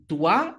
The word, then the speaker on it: doit: ils, elles, on doit, לא מבטאים את ה-T.